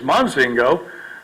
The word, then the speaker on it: Mozingo: goes in lensing goes even my pronunciation of my last name is Mozingo some of the brunette